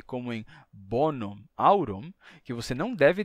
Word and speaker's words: bonum: pronuncia Bono amicum mas se você for dizer bonum virum você não vai dizer com o m mudo você pronuncia e você diz bonum virum bonum virum nesse caso o m é pronunciado bonum virum mas em